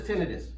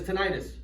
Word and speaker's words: tinnitus: Tinnitus. Oh, okay. Who says tinnitus? Who says tinnitus? I tell everybody the same thing. The way that you say this word depends on how many initials you have after your last name.